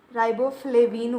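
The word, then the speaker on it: riboflavin: क्या राइबोफ्लोबिन राइबोफ्लेविन बोलते हैं, उसे प्रोनाउंसिएशन करते हैं।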